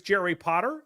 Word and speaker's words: Jerry Potter: My name is Jerry Potter. Yes, it rhymes with the boy wizard.